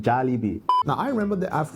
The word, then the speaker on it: Jollibee: It is pronounced Jollibee.